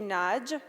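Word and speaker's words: Nagy: and it's going to be given by Andy Naj from the University of Michigan, and that is the correct way to pronounce it, by the way.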